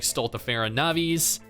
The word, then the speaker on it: Stultifera Navis: main story these also feature Unique Mechanics like stultifera navis arguably the most enraging event for me other